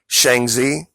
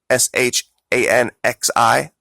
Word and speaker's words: Shanxi: And I think this is pronounced Shanxi, Shanxi.